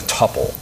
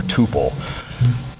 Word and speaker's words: tuple: store things in a tupple or Tuple not sure what pronunciation you like I I'll stick with tupple um basically TPP just